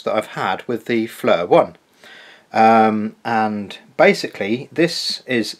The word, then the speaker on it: FLIR: and off while a FLIR is charging, or FLIR, sorry, that's how you pronounce it, is charging, and stays on continuously when it is fully charged.